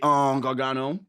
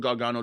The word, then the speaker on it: Gargano: again, you was in WWE, you know, with Gargano and I probably butchered his name. He said it right. Gargano.